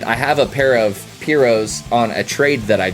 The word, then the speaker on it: Piro: Now I have a pair of Piros, I think is how you pronounce it, but most people say Piro, but it's pirouette. It's a play on the pirouette word.